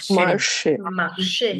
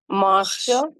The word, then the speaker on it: marché: marché, Marché. Correct. Now if let's say the accent wasn't there, how would we pronounce this word? Marche.